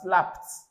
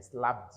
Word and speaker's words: slapped: So another here you have slapped. It's not slapped. I slapped you. No, slapped.